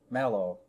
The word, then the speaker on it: Malow: awkward pause is because i remind myself that his last name rhymes with shallow so should you find yourself at home trying to remember if there were two l's everyone would get it right but there's only one